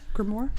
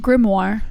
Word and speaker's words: grimoire: ritual an essential grimoire is that how you pronounce that grimoire grimoire gamora it's sort of like more war because a little brief